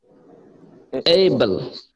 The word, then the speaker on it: able: এবারে আকার না তাহলে এই ব আর এবং ল তাহলে কি হলো বল বল Able.